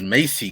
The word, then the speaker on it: Macy: Yeah, first of all, it's Macy Gray. Macy? What Get did it I right. say? I You said always Marcy pronounce her Gray.